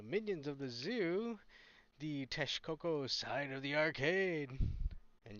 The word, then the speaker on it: Texcoco: welcome to the minions of the zoo the Tes Coco side of the arcade and yes that's how you pronounce it uh part of the Triple Alliance